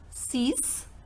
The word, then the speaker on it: six: Number 6 and number 10 are pronounced as cease and these. Cease and these.